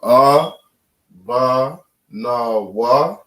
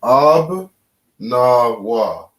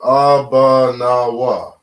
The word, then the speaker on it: Abanawa: But because this is how the word is properly spelled, we pronounce it Abba, Na, Wa. Abba, Na, Wa. Abba, Nawa. Right? Abanawa, if you say it fast.